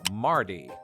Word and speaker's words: mardy: Aside from the fact that it sounds like the name Marty in American English, rhotic speakers in the US would more or less pronounce this regionally English word as Mardy.